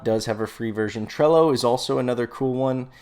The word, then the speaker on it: Trello: one word and then trello t-r-e-l-l-o like hello tr trello so project management software